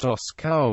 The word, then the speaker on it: Orsoy: The word Osay pronounced Oscow means horse pasture.